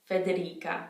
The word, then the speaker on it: Federica: a modern one federica federica federica federica remember because we don't have the i in between the c and the a it's not a soft c it's a k sound federica another name that